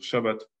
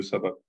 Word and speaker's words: Shabbat: le point non plus, donc on devrait dire shabbat au lieu de sabbat. Parce que le point, il est sur la branche de droite, donc sa prononciation est che.